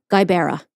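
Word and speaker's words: Gqeberha: And I looked it up and practiced, and I wrote it phonetically. G-U-Y-B-A-R-E-H-U-H. Guibera.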